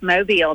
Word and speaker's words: Mobile: way is is mobile is that the correct pronunciation it is mobile that's right all right good I wanted to